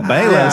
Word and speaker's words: Bayless: Skip Bailey. Because I was thinking, who cares what Skip Bailey thinks? And then I thought, oh, he meant Skip Bayless.